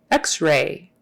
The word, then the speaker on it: x-ray: just barely there Ray x-ray x-ray and the accent is on the X x-ray have you had